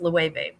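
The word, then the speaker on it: Loewe: be lows it's l o l-o-e-w-e and it's pronounced level um go yard also uh old fine leather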